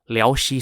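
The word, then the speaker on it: 辽西: city located in the liaoshi corridor lioshi spelled l-i-a-o-x-i which is a long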